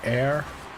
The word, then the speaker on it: heir: It sounds like hair. Right? That's how it's pronounced. What rank are you, Dilshin? Okay. And give him the bounce. Oh. The air.